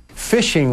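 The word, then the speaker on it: phishing: to reel in victims fishing fishing which is spelled with a pH is where somebody sends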